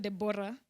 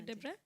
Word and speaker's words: Debra: No, it's not Deborah. Okay. Debra. Spelling haina O. Haina O. Sika ile ya Bible. Pronunciation is different. Sika ile ya Bible. Ile ya Deborah. Is it Debra with a H? Debra? No. It's just Debra.